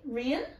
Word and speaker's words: Rian: Rian. that was not nearly. So I said, what did I say? Rahan. Rian is, it's like Kian. You know Kian? Yeah. But with an or.